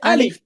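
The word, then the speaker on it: ألف: এটার নাম হচ্ছে আলিফ। আলিফ। আলিফ বলার সময় আমাদেরকে একটু চেষ্টা করতে হবে। আমাদের উপরের দাঁত নিচের ঠোঁটের সাথে লাগিয়ে উচ্চারণ করতে হবে।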